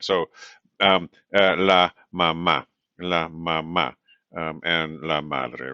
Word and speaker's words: mamá: So la mamá, la mamá.